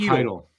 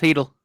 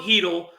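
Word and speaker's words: Chytil: bot this name phck hidle I think it's pronounced hidle it is it's pronounced heel Philip yeah that Philip heel Victor manini and a 2025 first uh that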